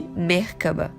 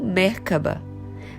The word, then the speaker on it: Merkaba: Ela é encontrada em outras culturas como Merkaba, Merkabah ou Merkavah. Existem diversas pronúncias, mas geralmente a pronúncia é como se as 3 sílabas fossem separadas com tonicidade igual em cada uma delas.